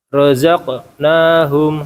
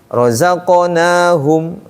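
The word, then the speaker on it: رَزَقْنَاهُمْ: lagi baca jadi jangan Jangan berhenti. Jangan rozaq nahum. Rozaq nahum. Tapi rozaqonahum.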